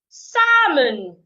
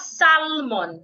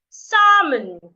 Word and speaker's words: salmon: o m b t salmon not salmon s the L is silent salmon Castle not Castle answer